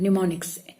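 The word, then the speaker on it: mnemonics: निमोनिक्स, एम उसमें silent होता है।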